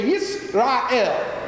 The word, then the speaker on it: Yisrael: Everybody say Yisrael. Yisrael. 3 syllables, Yisrael, which stands for, the